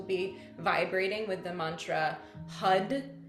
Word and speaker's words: Har: We'll be vibrating with the mantra HUD. It's spelled H A R but pronounced like H U D.